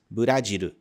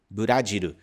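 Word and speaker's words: ブラジル: o Japão por exemplo o próprio nome do Brasil em japonês se diz badiru badiru escrito dessa forma aqui em katakan veja que é derivado de outro idioma Afinal é o nome do próprio país adaptado pra pronúncia japonesa usando os sons que existem no katakan outro exemplo seria Portugal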